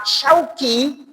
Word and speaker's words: Syauqi: Pun ketika tadi orang tua saya Ustadz Fathur Rahman menyebut saya dengan nama Syauqi, bener shin tapi belakangnya kaf, sudah beda arti lagi.